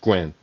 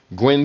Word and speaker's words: Nguyen: Or Gwen, I guess it would be. It's a Vietnamese name, Nguyen. I think it's pronounced Gwen.